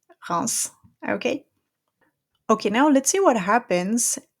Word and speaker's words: Reims: So usually we don't pronounce the S at the end of a word, but this is a city and it's an exception. So Reims.